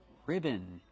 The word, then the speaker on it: ribbon: how do pronounce ribbon ribbon it's two put the stress on the first syllable R ribbon use a